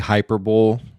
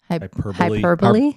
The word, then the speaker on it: hyperbole: But like that's kind of It could be hyperbully. Hyperbole. Yes. Hyperbole.